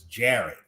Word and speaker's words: Jared: um addressing my name the correct uh pronunciation of my name which is jared okay well i'm gonna